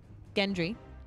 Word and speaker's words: Gendry: Gendry.